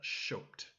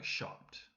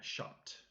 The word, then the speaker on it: shopped: speakers would pronounce that shoped. Okay, so to keep the sound of the original vowel in the imperative verb, we add an extra p just to make sure that we pronounce it correctly.